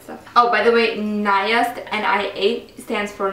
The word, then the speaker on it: NIA: Naya. Because I remember the email they sent me and it said Naya like Maya.